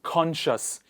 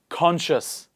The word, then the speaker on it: conscious: please repeat after me in this particular word very very confused word c is silent we don't say conscious or conch see us we say conscious please repeat after me conscious conscience conscience this word